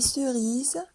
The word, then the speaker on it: cerises: Des cerises, ça s'écrit avec un seul S et ça se prononce Z.